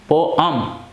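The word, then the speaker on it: poem: देखिए जो पोएम है ना, इसका हम प्रोनाउंसिएशन दो तरीके से करते हैं। एक है पोएम, पोअम, ओके, पोअम, और हम इसको बोल सकते हैं पोएम, ठीक है। तो हम दोनों ही तरीके से इसका प्रोनाउंसिएशन कर सकते हैं।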